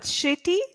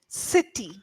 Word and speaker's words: city: H shami C cyle okay not shitty City sir City shitty sir s city city city yes City yes so earlier what happened was you were saying sh sound but it's actually sir sound sir shity City yes s t y that's the sound that comes out city city okay yeah not shity City